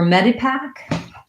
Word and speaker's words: Medipack: For Medipack, when we have words like Medicare, medicine, we have medi, which is like a vowel flap or a D, and an unstressed I because it's long short, meta.